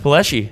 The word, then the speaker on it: Palleschi: owner and operator of 21st Amendment Distillery Jeff paleschi how are you good man the first question I have for you is did I pronounce that right yes okay so you got it most people say Pulaski don't they either ones yeah all right yeah